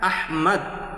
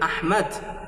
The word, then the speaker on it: আহমদ: এটা আহমদ, এটাকে বাংলা উচ্চারণ করা সম্ভব। এখানে আহমদ বলার কোনো অপশন নাই। আহমদ আহমাদি থাকবে। যেটা আরবিতে আহমদ, সেটা বাংলায় কেন আহমদ হবে, এটা আমার বুঝে আসে না।